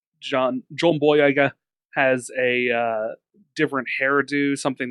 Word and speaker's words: Boyega: John Boyega posted an you pronounced it wrong, Remington. It's John Boyega.